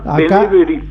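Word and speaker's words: B'nai B'rith: Sí, con la Beneberit que decimos. ¿Cómo se pronuncia? Benebit. Acá, acá le decimos Beneberit. Sí. Ah, bueno. Beneverit. Ahí está.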